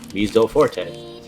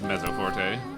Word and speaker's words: mezzo forte: but then we really says museo forte that was that was pronounced mezzo forte but miso during the